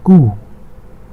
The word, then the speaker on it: Q: q and the sound or the way we pronounce it in german is different q is ku k u h ku as you can see